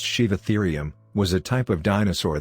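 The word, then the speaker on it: Sivatherium: number six sheave ethereum a shiva ethereum pronounced shiv ethereum was a type of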